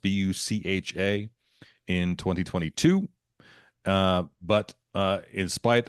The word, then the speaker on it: Bucha: This is her reaction to atrocities committed on Ukrainians by Russian soldiers in the city of Bucha, I think is how it's pronounced, Bucha, in 2022.